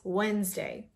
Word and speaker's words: Wednesday: Forget about the D. So it's Wednesday.